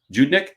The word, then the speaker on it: Judnick: Judnick, is that how you pronounce his name? Yes, he is their staff attorney.